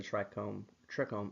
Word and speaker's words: trichome: When it comes to defending against bugs, plants use trichomes and terpenes to defend themselves. Although most people would pronounce it trichomes, the correct pronunciation is trichome, the root word meaning hair. So the trichome is an evolved hair follicle.